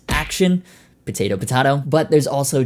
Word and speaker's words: Axion: So last time out, we talked about the Axion label series, or as it was pointed out, they're probably pronounced Action.